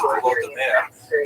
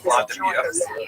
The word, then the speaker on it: Volodymyr: What's especially important in its history is the conversion of one of its leaders, Volodymyr, pronounced in Russian Vladimir, shown here a statue